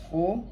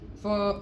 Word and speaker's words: pho: of vietnamese noodle soup it's actually pronounced for not not four so when we open